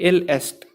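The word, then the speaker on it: il est: French में बोलते हैं इल एस्ट या इल ए, प्रोनाउंसिएशन में इल ए आ जाता है, और स्पेलिंग में इल एस्ट।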